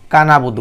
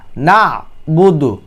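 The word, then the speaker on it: نَعْبُدُ: অনেকে বলে ইয়াকা নাবুদু কাবুদু বলে কাবুদু আইনটা বাদ আইন হরফটি কেউ উচ্চারণ করে না তাহলে আপনাদের নামাজটা কিভাবে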